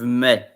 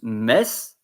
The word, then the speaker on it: mes: Same with me. You don't pronounce mes, you pronounce me.